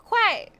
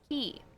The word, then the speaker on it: quay: a g but I thought the word was Quay it's not Quay it looks like it should